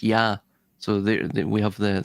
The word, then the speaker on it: Ea: It's also pronounced yah by the way in aadian. The ea is pronounced yah.